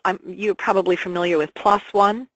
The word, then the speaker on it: PLOS ONE: I mean, there is a lovely site called, you're probably familiar with, Plos One. It's spelled P-L-O-S, new word, O-N-E, and that's free access studies.